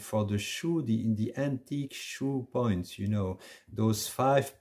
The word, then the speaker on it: shu: aksuy you have a second word which is pronounced shoe and shoe is a card and a card led by hand so the idea of something moving streaming and shu is the word which is in fact used